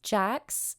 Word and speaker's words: Sjaaks: Jax, but this is spelled SJAAKS, is vegan chocolate.